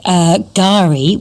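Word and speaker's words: K'gari: I mean, there's plenty of Aussie names mispronounced, like Gari, which is spelt K-G-A-R-I, and that's the Indigenous name for Fraser Island in Queensland.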